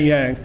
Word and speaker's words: Yang: The G and the Y, G and the I make a Y sound. Thank you, it's Yang.